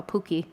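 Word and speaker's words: puki: I wish I would have brought my Pookie bottom that I was kind of picked up from the Southwest Potter friends.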